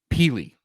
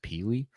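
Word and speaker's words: Pili: coming to Tennessee Keenan peely p-i-l-i I believe that it was how you would probably pronounce it peely um but you said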